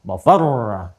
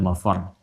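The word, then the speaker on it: mafarr: Ya, ainal mafar. Ada tasdidnya, makanya bacanya juga bukan mafar. Awas. Ya, bukan mafar. Beda dengan ayat selanjutnya kallala wazar, gitu kan? Itu biasanya kallala wazar sampai situ. Tapi yang ini ainal mafar, mafar ada tasdidnya.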